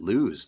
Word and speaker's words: Luz: Luz. Such delicious milk. Luz. Luz. I'm not a luz cow. I can't help but pronounce it lose, though. Lose. Well, that's the way the name is pronounced. Lose.